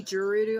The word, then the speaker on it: Gerudo: Yeah, Gerudo, however you want to say it. People say Gerudo. I've always said Gur, because it's literally spelled like Gur.